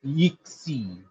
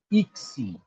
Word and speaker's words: yksi: So it is pronounced as E with a slight O to it. When you round your lips, it automatically comes like that.